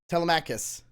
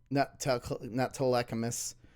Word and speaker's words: Telemachus: Telemachus. No. Telemachus. Not Telecachus. Like I've always been doing.